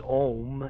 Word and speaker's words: om: the first one is om and it's pronounced as you would pronounce home except leave the H off and so we'll go